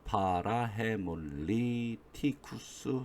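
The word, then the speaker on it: parahaemolyticus: 파라헤몰리티쿠스 이렇게 발음하시면 됩니다.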